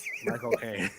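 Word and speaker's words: Michael Caine: before on here but if you ever want to know how to pronounce Michael Kane's name the way that he would pronounce it you just take the word cocaine and put my in front of it my cocaine Mich Kane oh my God and that's exactly how he pronounced it Michel Kane I am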